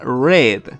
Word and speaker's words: read: dous y read leer mantiene la misma escritura pero cambia la pronunciación porque el inglés nos odia entonces en presente se pronuncia read pero en pasado se pronuncia red como el color rojo entonces cuando lo vean